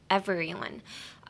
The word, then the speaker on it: everyone: So, whenever I hear Japanese people trying to pronounce everyone, they tend to say every, like, they pronounce the V-E-R too much. Try focusing on just pronouncing, like, every as an E-V-R-Y. Like, ignore the E, like, every.